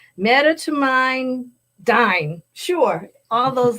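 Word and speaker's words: medetomidine: t o m i d i n e met toine dine sure all those letters but they're um it's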